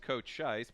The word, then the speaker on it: Cochise: of Mesa, Arizona from Cochise College. That might be pronounced Coach Scheisse, but I'm going to go with Cochise just because that's more fun to say.